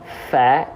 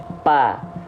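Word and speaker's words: ف: Nah, banyak orang yang melafalkan fa tidak seperti ini. Fa, tapi yang disentuhkan adalah antara bibir atas dan bibir bawah. Pa, pa. Ya nggak akan pernah tepat pelafalannya karena makhrajnya salah. Cara melafalkannya salah. Fa dan pa beda.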